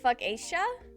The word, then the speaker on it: focaccia: It's pronounced like fuckacia?